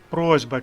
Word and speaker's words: просьба: але вимовляємо звук Ґ просьба через S але вимовляємо з зверніть увагу Ось на